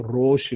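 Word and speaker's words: ראש: 원래는 라아쉬입니다. 원래는 사실 발음이 라아쉬가 돼야 되는데 알레프가 라아가 발음이 어려워서 알레프가 없어지면서 로쉬 이렇게 바뀐 겁니다.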